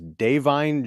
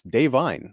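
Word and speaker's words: Da'Vine: but like confused because everyone was pronouncing her name as dine Joy Randolph and I just thought of it as Devine but it's dine I guess the apostrophe is real um but no she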